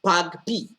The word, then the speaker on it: PAgP: look at port aggregation protocol um pagp is pronounced pug p all right it's a cisco proprietary protocol that